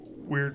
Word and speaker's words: Wyrd: I'm blanking on the exact name for it, but If you Google Wyrd Brothers, but make sure you spell it W-Y-R-D, kind of like birds with a W.